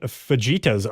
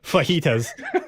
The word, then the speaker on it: fajitas: question do you know what vegetas are that's what I had for dinner for dinner and I I purposely pronounced that wrong she does have the pronunciation here because I know that we usually pronounce them wrong fajitas yes that was